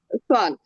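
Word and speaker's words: Schwann: स्वान।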